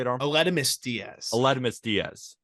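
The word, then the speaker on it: Aledmys Díaz: Almedis Diaz? How do you say it, Arm? Aledmus Diaz.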